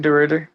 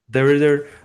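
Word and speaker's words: DeRidder: How do you pronounce that? Yeah, that's right, DeRrider. DeRrider, Louisiana, on your porch, just chilling.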